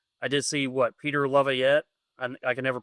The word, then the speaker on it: Laviolette: Like I did see Peter Laviolette. I can never pronounce his name properly.